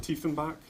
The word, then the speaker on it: Tiefenbach: Tiefenbach.